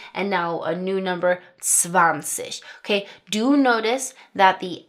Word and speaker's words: zwanzig: It's always that soft CH sound right like we talked about in the pronunciation video so that we have zwanzig, dreißig, vierzig, fünfzig, sechzig,